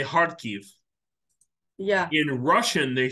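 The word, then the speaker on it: Харків: a word um it's in in Russian it's pronounced all like in in Ukrainian you say heartkiev yeah in Russian they say harkov yeah you know that is these are these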